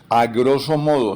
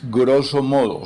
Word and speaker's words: grosso modo: Ejemplos, a grosso modo, no, es grosso modo, sin la A inicial.